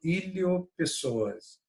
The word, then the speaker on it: iliopsoas: conjunto chamado de músculo iliopsoas. Iliopsoas, né? Esse P é mudo.